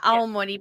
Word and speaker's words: Aomori: Yeah, Aomori Prefecture.